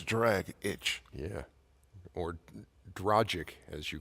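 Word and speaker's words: Dragić: lot I agree oh I always thought it was tragic at draaga CH like drog itch what it says dr agic that's drag itch yeah or dragic as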